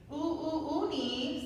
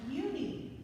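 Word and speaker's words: Unhei: "Uni," said a kid as they chanted. No, Yooni, corrected. It's spelled U-N-H-E-I. It's pronounced Yooni.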